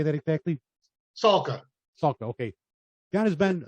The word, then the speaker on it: Salka: Salka.